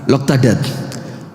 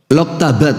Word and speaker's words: Loktabat: Loktadat. Loktadat. Loktabat. Oh, kebalik bacanya.